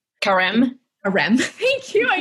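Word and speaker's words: Carême: i don't know how to say his name karem a rem thank you i knew you knew what i was going for yeah there's karem in france who is like innovating in this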